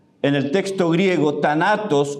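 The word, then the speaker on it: θάνατος: La palabra muerte, thanatos, en el texto griego, thanatos o thanatos, porque la TH se pronuncia como una D a veces.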